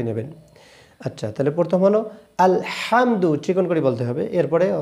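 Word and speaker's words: الحمد: আচ্ছা এরপরে আলহামদু। অনেকে বলি আলহামদু। আলহামদু বললে কিন্তু হবে না। কেন? বড় হা চেক করে বলতে হবে।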